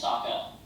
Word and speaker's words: Sokka: My name's Sokka. Rhymes with Aka and Waka Waka.